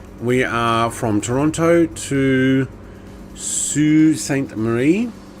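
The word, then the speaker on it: Sault Ste. Marie: are from Toronto to sue St Marie which is not how it's spell but anyway that's different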